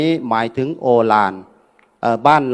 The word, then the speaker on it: โอฬาร: หมาย ถึง โอฬาร บ้าน เรา เรียก ว่า โอฬาร แต่ ภาษา บาลี นั้น บอก ว่า อุ ลา ลา ก็ แปลง อุ เป็น โอ คุณ ยม เวียน สนุก ขึ้น มา เป็น โอ ทาง บ้าน เรา ก็ อ่าน ว่า โอฬาร หรือ โอฬาร ถ้า มี